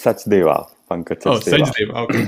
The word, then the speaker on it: Sachdeva: Is it Pankaj Sachdeva or Sachdeva? You know my impossible to pronounce names correctly. No, it's Sachdeva.